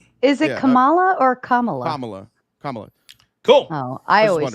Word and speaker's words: Kamala: Is that how you pronounce it? Is it Kamala or Kamala? Kamala.